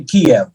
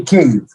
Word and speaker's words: Kyiv: Now, the Russians say Kiev. Okay. And We say Kyiv.